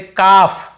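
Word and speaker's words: calf: जैसे काफ, काफ, काफ, हाफ, हाफ, काफ, हाफ, एल को यहाँ पे नहीं पढ़ना है। काल्फ, हाल्फ नहीं पढ़ना है, काफ बछड़े को बोलते हैं, हाफ यानी आधा। L silent.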